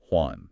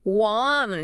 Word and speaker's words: Juan: So Juan becomes Juan. Juan.